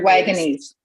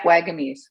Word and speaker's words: Wagamese: Richard Wagamese. Yeah, Wagamese.